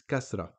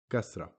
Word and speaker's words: kasra: below the letter, and its English equivalent vowel is I, but pronounced as I, like the word if, in, it, not, bite, fight, sign, which all have an I in them, but pronounced completely different.